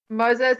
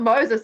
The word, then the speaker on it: Mose: Moses, it's not Moses, is it? I heard you pronounce his name differently before. Oh, yeah, Mose, the Samoan version.